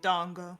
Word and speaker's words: dango: oh I want that Dango is long it's a long a it's a long a Dongo Dongo Dongo well it's in his